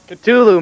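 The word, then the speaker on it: Ktulu: second side of Ride the Lightning the exact pronunciation culu man I was right Jesus Christ culu about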